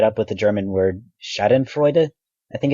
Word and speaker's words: Schadenfreude: Superiority theory typically gets tied up with the German word Schadenfreude, I think it's pronounced, uh which refers to the joy we get when we see others harmed.